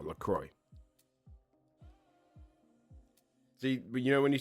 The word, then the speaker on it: LaCroix: What sparkling water brand's name rhymes with Consular Troy? I have no idea. No idea. Oh, LaCroix.